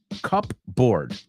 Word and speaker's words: cupboard: Se escribe cupboard, pero no se pronuncia así. Okay, ojo, ponlo todo junto, cupboard.